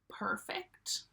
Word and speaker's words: perfect: So perfect, perfect, 2 syllables again, perfect. It's not fact. Usually it's fict.